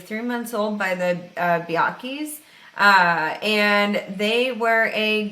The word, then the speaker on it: Bianchi: biake uh biachi bianchi i think it's biake i don't think the ch is pronounced but uh he was